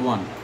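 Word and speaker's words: one: দ্বিতীয় যে বিষয়টি সেটা হলো এমন কিছু শব্দ যেটা উচ্চারণ করতে ওয়ায়ের মতো উচ্চারিত হয়, ইট সাউন্ডস ওয়া। তো ওয়ায়ের মতো উচ্চারণ হয় এবং সামনে ভাওয়েল আছে, এরকম শব্দ একটি আছে, সেটি হল ওয়ান।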